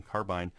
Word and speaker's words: carbine: For all of you who cringed at my use of the word or pronunciation carbine, that's the way the British and some Canadians pronounce it.